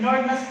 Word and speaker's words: Nernst: मैंने लिखा NERNST आर है साइलेंट होता है, इसको बोलते हैं नर्डनस, लिखते हैं लेकिन पढ़ते क्या है, नल्स इक्वेशन। ठीक है, नल्स इक्वेशन।